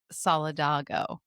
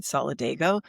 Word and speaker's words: Solidago: us, please, very respectfully, could we stop saying Solidago and say the way it's supposed to be pronounced, which is Solidago.